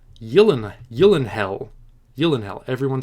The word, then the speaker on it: Gyllenhaal: didn't know that he you'll inhale you'll inhale unfortunately i'm probably going to continue saying Gyllenhaal because it's what I'm